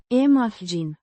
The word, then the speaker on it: imagini: imagini, The plural form of imagine, image, pronounced, imagine, with the stress on the second syllable.